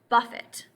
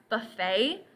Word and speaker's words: buffet: actually be pronounced two ways it can be pronounced Buffet which means to hit or to strike but in this sort we're going to use the more common pronunciation at least in English and that is Buffet and it's a place where you can go